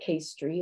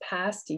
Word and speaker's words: pasty: bought at a tourist shop and it's not pastry it's not pasties it's pasty yuper food of the gods and this magnet